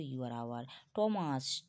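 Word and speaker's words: Thomas: ও ইউ R hour টমাস টি এইচ ও টি এইচ ও এম এস টমাস তোমাকে কি থমাস বলছি না টমাস বলছি hair hair বলছি না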